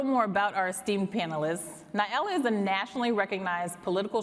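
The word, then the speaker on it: Na'ilah: Joining us tonight are Nyala, pronounced like umbrella, Amaru, an advocacy and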